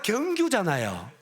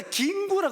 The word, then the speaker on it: 경규: 제가 경규잖아요. 근데 경규 발음이 안 돼요. 그러니까 김구라 그랬다고.